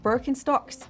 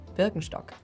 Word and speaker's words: Birkenstock: As with many other on this list, Birkenstock is rather difficult to pronounce. So it's not Birkenstocks, but Burkenstock known by most as a luxury jewelry manufacturer.